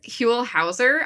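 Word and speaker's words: Huell Howser: dad looks like so his name is huel hauser i think that's how you say it um but apparently he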